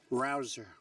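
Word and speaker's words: Rouzer: Hey, you know how you pronounce it? Rabble Rouser? You go David Rouser.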